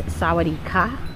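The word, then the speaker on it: สวัสดีค่ะ: want to say hello, that ka at the end is for females, and I forgot what men say, but there are different pronunciations for men and women.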